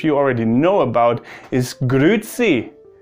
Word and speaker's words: grüezi: Another way to say hello, and that's probably the way that most of you already know about, is grüezi. Grüezi, and that's also why I can pronounce it quite well in comparison to the other things, because that's just something you hear.